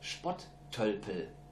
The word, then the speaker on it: Spotttölpel: We say Spotttölpel. Oh, yeah? Can you say that? Say it one more time. Spotttölpel. Spotttölpel.